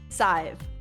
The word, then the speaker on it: Scythe: least favorite tabletop game, Scythe. Or as I've recently learned, pronounced Scythe. I will not be correcting myself in the future.